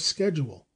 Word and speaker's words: schedule: was sufficient to establish the American pronunciation of schedule in England the SCH is always given the soft sound but Webster decided for the heart sound as in scheme the variance persists to